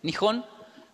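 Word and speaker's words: 日本: se japón en los tres tipos de escritura nihon así se pronuncia gijón tiene atrás sus curvas el de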